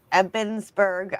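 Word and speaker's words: Ebensburg: I was there last year and um it's in the old jail in Old Stone Jail in Epensburg.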